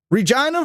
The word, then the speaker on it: Regina: Regina rhymes with vagina.